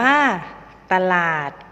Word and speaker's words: ตลาด: ๆ กัน เลย นะ คะ ตลาด อ่าน ว่า ตลาด ตัว ปรอท อ่าน ว่า ปรอท สว่าง อ่าน ว่า